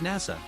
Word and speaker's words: Nasa: The story follows a protagonist whose name is written with the characters for Hashizora, Starry Sky in Japanese, but whose name is pronounced as Nasa.